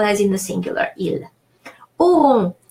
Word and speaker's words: auront: Auront. AU rule of pronunciation is pronounced O, and ON is pronounced nasal O, on, but that only when